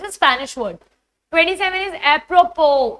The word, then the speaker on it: apropos: 27 is apropos. It's not apropos. The OS is silent. Specifically, the S is silent. It's apropos.